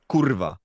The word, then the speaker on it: kurwa: Kurwa.